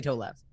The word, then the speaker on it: Tolev: pronouncing my name properly you would be alarmed at how many people can't say toe left what do they say holla that's very american and i'm like you're adding extra letters here you're complicating